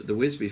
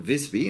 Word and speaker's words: Visby: The last surviving bits of lamellar, for instance, the Wisby finds, or Visby, as we should probably pronounce it, the Visby finds are clearly reused lamellar armour.